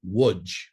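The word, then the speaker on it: Łódź: the town of LGE in Polish the capital L has a slash through it and is pronounced as a w so a pole would refer to this town as wood so my parents grew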